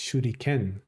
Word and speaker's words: shuriken: I was saying A instead of E. It's Shuriken, because Ken is like a sword.